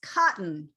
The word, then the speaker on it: cotton: pronouncing c-o-t-o-n o-double-t o-n okay that's cotton yes that is another one of the ways we say tea it's considered a hell t because it's got the